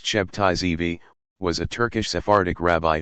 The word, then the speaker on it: Sabbatai Zevi: Sabbatai Zevi, many different spellings, but pronounced Shebtai Zevi, was a Turkish Sephardic rabbi who declared himself the Jewish Messiah on June 18, 1666.